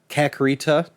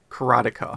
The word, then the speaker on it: Karateka: for a game he wants to recommend uh kakarita or kratika or it's um karate yeah karateka karate yeah i've mispronounced it my whole life so that is